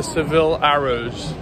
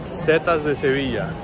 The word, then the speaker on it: Setas de Sevilla: So we have arrived at one of the main attractions in Seville, which is the Seville Arrows. Is that how you say it, Seville Arrows? Setas de Sevilla.